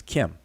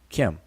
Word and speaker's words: km: in the Egyptian language there are many uh words that would transliterate as km and we would pronounce as Kim with these same glyphs